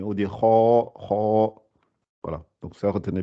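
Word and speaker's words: خ: Et le kha, elle sort au début de la gorge. Ça fait ar, ar, ar. Ouais, faut vraiment bien la prononcer. Kho. Et elle est gonflée aussi. C'est parmi les lettres qu'on dit, elles sont emphatiques, elles sont gonflées. Kho, kho, kho, kho, kho. On dit pas kha, kha, mais on dit kho, kho.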